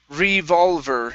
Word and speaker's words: revolver: This is revolver. Revolver. Revolver. Okay, instead of var, it's ver. Revolver. Revolver. Good, good. Much better with the ER ending, okay?